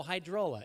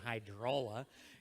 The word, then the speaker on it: Hydrola: we have h2i drolla how do you say it oh hydrola even better hydrola okay will you hand